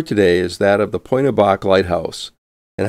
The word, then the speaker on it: Pointe Aux Barques: at point a bach the locality is properly pronounced point of bach and not pointy aux berks and it is located near the tip of